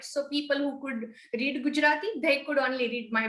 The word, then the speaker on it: Gujarati: do i say it right if i say gujarati is that is that your local language yes